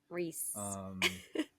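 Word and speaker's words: Rhys: Is it Rice? Rice. Nice, Rice. Reese. Who spells it like that?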